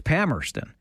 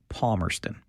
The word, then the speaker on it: Palmerston: or still live there, if you live there, it's Pammerston. If you're from outside, it's Palmerston.